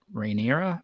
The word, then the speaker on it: Rhaenyra: older lady raina rain rhaenyra maybe it's it's not rainier but that's our thing it's it's like reyna